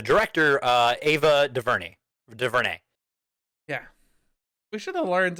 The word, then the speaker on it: DuVernay: week is the director uh eva de verne de vernay yeah we should have learned how to actually pronounce her name i did you did i'm